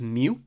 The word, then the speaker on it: mu: U with a little tail on the left, pronounced mu, which represents a mean calculated based on an entire population.